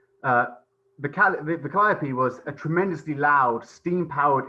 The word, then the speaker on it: calliope: at this point that in riverboat culture, in the river world, the calliope is often pronounced calliope, and so I apologize. I'm gonna continue to say calliope because it's just what I'm used to. But if you correct me, I will concede that you're right.